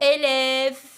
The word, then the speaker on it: élève: Quand le E est suivi par une consonne et aussi un E muet, le E ici prend un accent grave. Voilà un exemple. Vous avez le mot élève, élève. Observez bien le E qui est jaune. Regardez, on voit un accent grave. Pourquoi? Parce qu'il est suivi d'un V et après le V, il y a le E. Le E est muet, on ne le prononce pas.